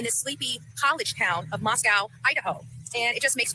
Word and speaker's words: Moscow: However, a place like this does exist in this sleepy college town of Moscow, Idaho.